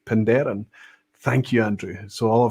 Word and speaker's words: Penderyn: Andrew Pierce is saying, Aquavita and Welshroy, your pronunciation was correct, Penderyn. Thank you, Andrew. So all I've got to do is lock that in and have some conviction when I say it right, Penderyn.